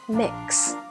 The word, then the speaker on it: Mx: There is no coincidence the title is pronounced mix, which is precisely what it does, mix and confuse people.